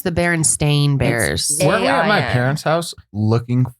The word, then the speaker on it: Berenstain: pronounce Barrett stain bearers is it do people pronounce that is that their same berenstain bears yeah I always I swear remember hearing at Bernstein Bernstein Bernstein Berenstein bears the berenstain bears so